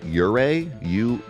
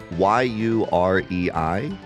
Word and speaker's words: yurei: and you guys can help me with the pronunciation, yurei, y u r e i, which is basically a ghost or lingering spirit, and uh usually they will appear with will-o'-the-wisps.